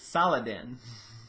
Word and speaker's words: Saladin: It's Saladin. Which sounds an awful lot like Sultan, if you take out some of the syllables.